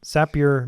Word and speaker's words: Zapier: happier oh good one sappier makes you happier yeah we really look up to zapier because um of the